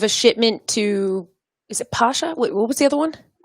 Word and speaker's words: Pasha: one yeah it's uh it's actually pasha it's it's it's called it's spelled tasha but i know george paige before and he would tell you it's pasha okay yeah okay because